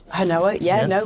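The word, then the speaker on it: Hinowa: I pronounce that right? Hanoa, well done.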